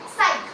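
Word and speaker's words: psych: देखा क्या वर्ड था साइक तुम इसको पता नहीं क्या पढ़ रहे होगे पर ये साइक है नहीं क्या इसम जो प है वो साइलेंट है ठीक है अब इसका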